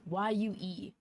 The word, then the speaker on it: Yue: And that's spelled like it's spelled Y-U-E, Yue.